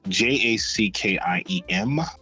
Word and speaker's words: Jackiem: Most people spell my first name wrong. It's Jackiem, as in Mary, Joyner, Joyner.